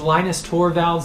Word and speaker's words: Linus Torvalds: want to say that although his name is Linus Torvalds in English in other languages his name is going to be Lena's leanest over violence and so there are